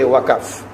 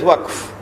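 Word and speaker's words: وقف: No, you must not say waqaf, because that word is in the Quran, you must pronounce it as it is in the Quran. So you give it as waqf.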